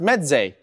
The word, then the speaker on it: Meze: enclosed headphones and earphones and it is pronounced meday rasvan of Med made